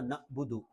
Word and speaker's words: نعبد: کی طرح جھٹکا بھی نہیں دینا نعبد، بلکہ عین ہے، حلق کے درمیان سے ادا ہوتا ہے نعبد۔ ایاک نعبد و ایاک